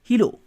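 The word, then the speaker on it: hello: Like जैसे ये लिखा हुआ है हेलो, अब कोई बंदा इसको पढ़ता है हीलो, या कोई बंदा इसको पढ़ता है हीलो, तो अब ये हीलो नहीं है हेलो है।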